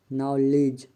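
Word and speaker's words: knowledge: जी H silent है के silent N के पहले आया हुआ के प्राया साइलेंट होता है जैसे नी नाइफ नॉलेज नॉट इन सभी वर्ड में के साइलेंट है एल साइलेंट डी एफ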